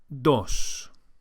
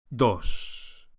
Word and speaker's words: dos: The Spanish D is softer than in English and is produced with the top of the tongue flat against the gum ridge, not with the tip of the tongue as in English.